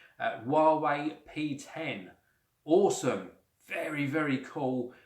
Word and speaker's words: Huawei: is the Huawei and that is the correct pronunciation Huawei P10 awesome very very cool uh product packaging